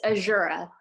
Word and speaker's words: Azura: your name right hopefully so close it's azura azura right okay all right